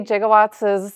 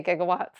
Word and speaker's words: gigawatts: "Jigawatts" is not the normal way we talk about electricity. So I'd just like to bring that. I want you guys to know the lingo. It's usually a hard G when we say gigawatts. Unlike Professor Brown.